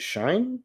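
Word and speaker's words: Schoen: Joe Shane, according to uh Wikipedia, Joe Shane, it's pronounced Shane Joe Shane.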